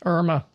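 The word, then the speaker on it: IRMAA: And and Irma in this case is spelled a little bit differently than uh most Irmas we know out there. It's uh IR M A which stands for income related monthly adjustment amount.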